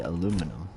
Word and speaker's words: aluminum: find it weird that people would say aluminium. Because the way it's spelled just seems like it would be aluminum.